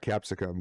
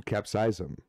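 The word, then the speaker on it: capsaicin: there are three different one million capsize capsize them apparently is how you pronounce it not capsicum capsize them uh three different one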